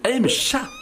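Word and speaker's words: M-CHAT: test du M du mchat alors non rien à voir avec le FIDÉ en fait ça se prononce MCH a T oui c'est de l'anglais une série de questions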